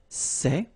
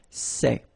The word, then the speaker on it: ces: the plural form so masculine plural it would be say okay and then feminine plural good news it's the same so we've got one form here sir and the option set when you've got a noun starting with a vowel after and then set feminine form and for the plural you've got only one form okay and it's say